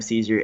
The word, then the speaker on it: Cesare: in my name Adam sees your ad AM CES a re I know it's set sounds like the salad and it's spelled like Cesare but that's just something